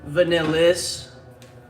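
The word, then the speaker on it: Vanilys: This is actually vanillis, since I'm not gonna evaluate the actual vanillin. Yeah, that's a bummer. Sorry, guys. Can't find it right on my hand, but I got vanillis here, so I'll do an evaluation of vanillis.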